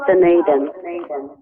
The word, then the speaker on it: Dunedin: Did I pronounce that correctly? Otago, New Zealand. What is it? Dunedin? That's close enough, Dunedin. Oh, Dunedin.